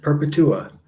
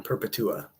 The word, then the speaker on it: Perpetua: My name is pronounced Peretua. Perpetua. Okay, I got it. Thank you. I do like to say it correctly. I would have just been stumbling over that the whole time. Perpetua.